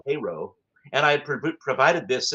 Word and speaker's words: Cairo: It looks like Cairo, like Egypt, but it's pronounced Cairo. And I pro provided this in the research list, and I still got a a correction back saying Cairo.